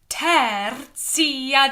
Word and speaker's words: tertia: Et resurrexit, tertia die, ie. All up here bright. Ter. If you can roll your R, then do. Tertia die.